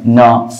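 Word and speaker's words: know: जैसे नेट में है न, फनी में है डबल एन के लिए न, नो में के एन के लिए न आ रहा है, नेट में जी एन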